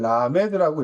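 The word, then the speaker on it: למד: 그다음 12 번째 자음은 라메드라고 하는데 읽을 때는 라메드라고 읽고요.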